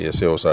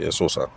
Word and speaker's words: Eseosa: But people keep telling me that, yes, even though it's spelled Eseosa, I shouldn't say Eseosa, I should say Esosa.